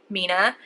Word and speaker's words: Mina: Now this new store opened here in Malta, which is called Mina, but it's pronounced Mina, but it's written but looks like a 3 Ina. So the M is actually turned upside down, if that makes sense.